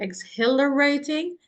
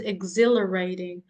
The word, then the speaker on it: exhilarating: And guys, remember that H is silent. So it is not exhilarating. It is exhilarating.